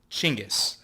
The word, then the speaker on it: Genghis: So the real answer is that syllable in Mongolian doesn't translate. It doesn't exist. Doesn't exist. So as I understand it, it's somewhere between a CH and a soft G.